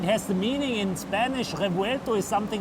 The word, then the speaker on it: Revuelto: Well, thank you very much for taking the time to show us the new Revuelto. Did I say that right? Yeah, it's really excellent. Okay. The pronunciation is excellent.